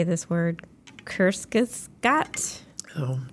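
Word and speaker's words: Kurzgesagt: I don't know how to say this word Kus Scot oh right here you'd say it kest K Gat K G is that German that here you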